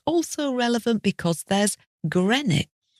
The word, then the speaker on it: Greenwich: not Greenwich in particular it looks like green witch but no we say Grenich and this is the